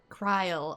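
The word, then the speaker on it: Krile: Kryle. Okay. I've been pronouncing it krill since there is a character I want to say it was Final Fantasy 6 with the same name.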